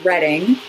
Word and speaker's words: Reading: And then my favorite is Reading, which is spelled exactly the same way as reading.